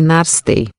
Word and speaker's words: NASTAE: O som é Nastai, pronuncia-se Narstei.